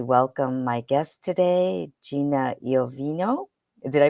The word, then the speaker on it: Iovino: just wanted to welcome my guest today Gina yovino did I pronounce that last name correctly did you did